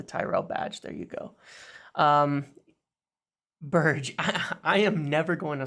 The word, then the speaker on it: Berge: And I know it's pronounced Berge, but he said it's okay to say it the other way.